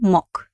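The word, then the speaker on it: мог: mok uh because uh the letter g uh it's a voiced consonant uh at the end of the word has a weak position in rush language and it becomes a voiceless consonant that's why gir turns into curse that's why i pronounce like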